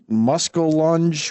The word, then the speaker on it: muskellunge: He said, "I think it's pronounced muskellunge will take your arm off in a lake." A muskellunge? So I just want to. I want to Google image muskellunge.